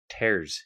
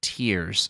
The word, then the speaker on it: Tears: tears of the kingdom tears yes no that's not how it's pronounced nintendo came out and said that it is officially tears of the kingdom the fact that they